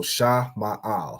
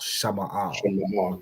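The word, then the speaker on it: שמאל: So Sha is separate, Ma'al. Okay, so Sha Ma'al, Shama'al. Shama'al.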